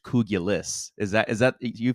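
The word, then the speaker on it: kugelis: Uh we we've been calling it Kougula this entire time, but we looked it up last night and it looks like it's pronounced like it's spelled like it's pronounced kougulis.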